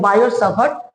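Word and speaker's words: Biot–Savart: बायो क्या book में लिखा हुआ रहता है बायो टी लिखा हुआ रहता है लेकिन टी आपका क्या रहता है साइलेंट रहता है इसको बोलते हैं बायोसवरर्ट लॉ बायो सर्वर लॉ ठीक है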